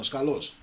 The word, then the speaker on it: Skalos: J. Skulos. Skulos, no, Skalos.